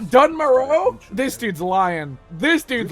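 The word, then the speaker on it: Dun Morogh: It's pronounced Dunmora? Not Dunmoro?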